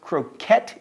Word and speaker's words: croquet: By the way, did you know that croquet is pronounced croquette in England?